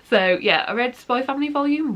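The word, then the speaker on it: Spy × Family: learned is just called Spy Family. You don't pronounce the X in the middle. So yeah, I read Spy Family Volume 1.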